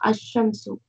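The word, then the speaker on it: الشمس: Al-shams, it is, when it is pronounced, it will become ash-shamsu.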